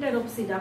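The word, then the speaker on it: Pteropsida: इसको जब आप देखना स्टार्ट कीजिएगा, जैसे सिलोप्सिडा, स्फेनोप्सिडा, लाइकोप्सिडा एंड टेरोप्सिडा। P silent होगा हर जगह पे, जहां जहां पे मैं प्रोनाउंसिएशन कर रही हूँ वहां पे क्या होता है, पी साइलेंट होता है।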